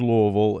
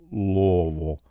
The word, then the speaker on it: Louisville: it is it is Louisville and uh the way you say it if you're from Louisville is to collapse it all into one melted syllable Lille so Lille and uh